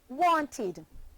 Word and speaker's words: wanted: e and te D which is pronounced wanted forming two syllables want and it wanted